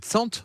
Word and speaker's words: Tsanta: C'est Tsant qu'on dit, ou c'est pas Tsanta? Ça s'écrit Tsanta, mais c'est Tsant.